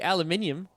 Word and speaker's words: aluminium: and I will say there's an accent that forces you to say aluminium I I prefer saying